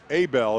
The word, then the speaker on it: Abel: Abel is actually the pronunciation on Ethan Abel from Oakley.